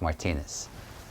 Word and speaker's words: Martinez: to meet you um my last name by the way is pronounced Martinez I'm in the middle